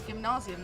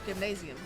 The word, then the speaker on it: Gymnasium: Apparently it's Gymnasium, not Gymnasium.